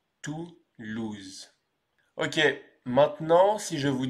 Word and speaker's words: Toulouse: Et on prononce donc Toulouse. Toulouse.